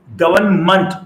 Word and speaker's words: government: and energy is government listen to the right pronunciation of this world it's government not meant is government doing everything